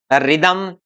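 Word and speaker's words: rhythm: अब देखते हैं यहाँ ए आर के बाद में यदि एच आता है तो एच साइलेंट रहेगा, जैसे इसको बोलेंगे हम राइम, रिदम, राइम, राइनो। ऐसे ही है।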